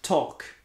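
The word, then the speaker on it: talk: beaucoup de lettres muettes le l de ce mot par exemple ça ne te rappelle rien ça se prononce torque le w de ce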